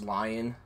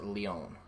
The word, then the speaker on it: Leon: I thought it was lion, like the pronunciation, but it's Leon.